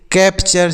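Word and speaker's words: capture: इसको चर पढ़ना है यहां पर टी का जो उच्चारण होगा च के रूप में निकलेगा जैसे कैपचर सी ए प सी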